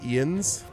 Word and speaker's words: Jens: I, Ians, hereby swear fealty to you. Jens is pronounced Ians.